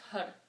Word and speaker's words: Har: It's H-A-R. But the important thing to realize is that you don't say it like car. You say it with the tongue hitting the top palate of your mouth, right in the middle, when you say the R, and pump your belly.